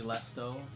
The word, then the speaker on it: Lesto: Oh my god, you pronounced my name wrong, says Lesto. What did I keep saying Leston? It's Lesto. Lesto.